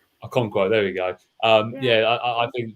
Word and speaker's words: Okonkwo: I mean, no, I can't pronounce his name, so I'm not going to probably try and embarrass myself. It's Okonkwo. Okonkwo, there we go.